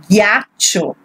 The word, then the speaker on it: ghiaccio: There is an H, so g, ghiaccio, ghiaccio.